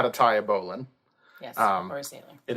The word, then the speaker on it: bowline: There's also something called a bowline. It's actually spelled bowline. But because of ancient history, is pronounced bowline.